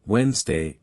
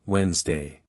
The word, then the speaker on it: Wednesday: For example, saying comfortably instead of comfortable, which should be pronounced more like comfortable, or saying every letter in Wednesday instead of the correct Wednesday.